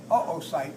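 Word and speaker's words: oocyte: a tertiary o site o o c YT e we usually put the two dots over the second o which signifies a separation in the uh vowels so that we don't if we had two o you would want to say oite right right but by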